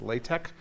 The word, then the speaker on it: LaTeX: And so to make math look pretty on the web, so mathematicians use a tool called LaTeX, LaTeX, pronounced LaTeX.